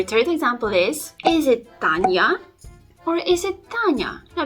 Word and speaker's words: Tanya: you see it's not Tanya because the your sound should not be that prominent in the young letter that is following the soft consonant so it should be pronounced a bit softer Tanya Tanya okay our next